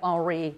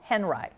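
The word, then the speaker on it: Henri: Robert Henry and I know it looks like Ari but in America we pronounce his name are Henry Robert Henry was related to Mary Cassatt and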